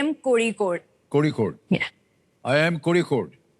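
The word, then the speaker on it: Kozhikode: ये IIM कोझिकोड कैसे pronounce करते हैं? ये IIM कोड़ीकोड।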